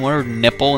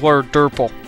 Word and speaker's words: Water Dumple: I don't know why I kept on calling him water nipple in the one episode. I really don't know why. I thought that was their name, but it's water durple, not nipple.